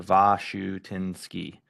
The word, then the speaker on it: Washanuski: But it's pronounced va shoe, like a shoe on your foot, tin as in a tin roof, and ski as if you're gonna go skiing. So va shoe tin ski.